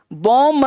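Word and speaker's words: womb: बॉम्ब मतलब गर्भाश है, बुम, इसको बुम बोलेंगे।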